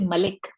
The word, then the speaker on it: Malik: but actually hna sorry the pronunciation is Malik Malik okay so um thank